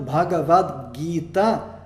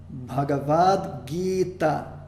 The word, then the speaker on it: Bhagavad Gita: Então, Bhagavad Gita, nós temos a primeira sílaba Bha, a segunda Ga, a terceira é Va.